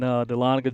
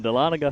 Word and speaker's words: Dahlonega: Beautiful venue up there in Dahlonega, Georgia.